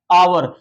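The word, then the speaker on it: hour: लेकिन जब इसका उच्चारण हम लोग करेंगे ना जैसे हम पढ़ते हैं एच ओ यू आर आवर एच मेरा साइलेंट वर्ड हो जाता है। आवर देखिए इस तरह पढ़ते हैं बाबू आवर आ ये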